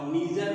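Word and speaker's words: neither: ये लेकिन जो आइदर आर है नाइदर आर, यही ब्रिटिश इंग्लिश है, और नीदर और ईदर जो है वो अमेरिकन इंग्लिश का प्रोनाउंसिएशन है।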